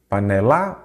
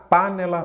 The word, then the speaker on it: panela: penúltima vamos lá pela qual que é a sílaba tônica panela panela ou panela panela então é a penúltima aí você já sabe